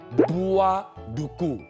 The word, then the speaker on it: buah duku: 但是真正的发音是布啊鲁菇，但是久了之后，人家就叫马鲁菇。